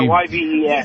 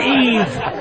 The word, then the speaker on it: Yves: Yeah, YVES. YVE. Your name is Yves. It's not Eve. Funny. That was Jacques Cousteau's middle name, right? Was it? Yeah, exactly. Hey, what are you doing New Year's? Yves?